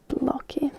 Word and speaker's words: blogi: Next I have blog, and in Finnish you would say blogi. Blogi. Like this. Pretty simple. Instead of blog, it's blogi.